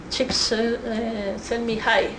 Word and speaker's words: Csikszentmihalyi: Lo sé pronunciar porque él mismo, siendo consciente de esto, decía, bueno, esto en realidad se traduce, dicho así, es como las chicas me ponen, ¿no? Csikszentmihalyi, ¿no?